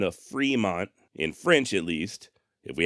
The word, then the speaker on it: Fremont: am fully aware the pronunciations do change over time and currently here in the United States Fremont is correct you live in Fremont